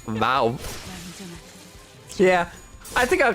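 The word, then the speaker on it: vav: The wow is pronounced vow. Yeah, I think I'll call it wow though, because I think that's funnier.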